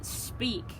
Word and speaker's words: Speick: Next shave was the Speick, right, Husk?